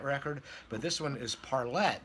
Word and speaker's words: Parlet: Now, it might be pronounced Parlay, but I've heard people in the P-Funk orbit, namely the son of one of these singers, and he pronounced it Parlette, from what I recall.